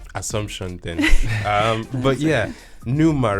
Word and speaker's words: pneuma: for that um assumption then um but yeah pneuma right that's your first project is that how you pronounce it yes explain the word and because